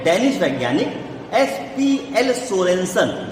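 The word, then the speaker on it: Sørensen: कहते हैं 1909 में डेनिश वैज्ञानिक SPL सोरेनसन, जो SURENSEN, देखिए वो देखिए स्पेलिंग लिखी है सामने, है ना, तो सोरेनसन, तो वो है, वो स्पेलिंग है, वो सोरेनसन है।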